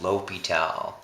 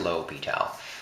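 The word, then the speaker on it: L'Hôpital: rule so this is spelled l apostrophe hospital okay but it's pronounced l'hopital you know like uh because french so low p tall is how it's pronounced low petal l'hopital's rule um so this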